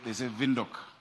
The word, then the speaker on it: Windhoek: They say Windhoek. We need to learn how to pronounce it.